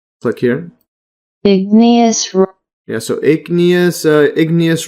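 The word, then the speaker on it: igneous: further so Ignus Rock Let's see if we're pronouncing it correctly click here Ignus rock yeah so Ignus ous Rock derived from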